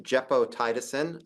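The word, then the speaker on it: gepotidacin: move on to a novel antibiotic it is pronounced jeppo tiisin um I practice for this talk specifically um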